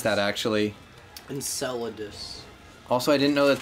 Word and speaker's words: Enceladus: How do you pronounce that, actually? Enceladus.